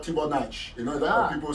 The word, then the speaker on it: Tchouanang: very good that his name is not correctly pronounced. I don't take offense. I know you're French. Actually, it's called Tchouanang.